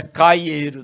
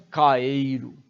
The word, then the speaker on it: Caeiro: Calheiro cuidar cuidado né não é caieiro não como algumas pessoas pronuncia Alberto Caeiro é interessante que eu